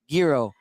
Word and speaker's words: gyro: stickler, put gyro rhymes with hero.